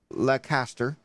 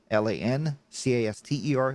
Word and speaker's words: Lancaster: it and i think it's uh morally wrong not to put the n in there it's lan l-a-n c-a-s-t-e-r lancaster not lacaster what